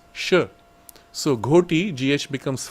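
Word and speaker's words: ghoti: So g h o t i goi he said should be pronounced fish.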